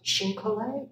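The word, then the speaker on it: chine-collé: And this has a technique called Xin Collet. Anybody touch down on that? We're gluing Xin, meaning Chinese, pronounced in French, Collet, meaning to glue, all these petals, there's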